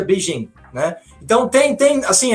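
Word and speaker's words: Beijing: da cidade não é Pequim o nome da cidade é beijim né então tem tem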